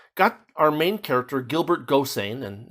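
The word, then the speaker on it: Gosseyn: It's it's got our main character, Gilbert Gossain, and it's important that you pronounce his name that way.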